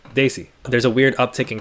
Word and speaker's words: Desi: Desi is pronounced DIY. Sorry, Daisy.